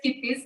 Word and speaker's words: Kippis: So it is Kippis. That's how you pronounce it.